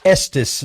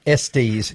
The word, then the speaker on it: Estes: And I've learned it's pronounced Estes, not Estes.